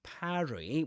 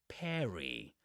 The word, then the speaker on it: parry: and mind the pronunciation, parry with an A, with that A sound, just like in trap or in cat. That's British English, but in American English, it's pronounced with an E sound, just like in dress.